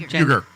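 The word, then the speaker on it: Uygur: Uyghur.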